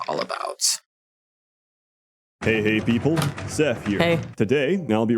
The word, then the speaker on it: Sseth: my god by um the first word is seth seth that's correct that's right i mean you could